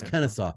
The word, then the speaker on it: Kennesaw: they're going to add Kennesaw State did I say that right Kennesaw it's Kennesaw my apologies to people from Kennesaw State I mispronounced your name it's Kennesaw State it's